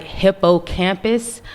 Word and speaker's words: hippocampus: p u s now it it looks like hippocampus but it's pronounced hippocampus okay and hippocampus is again the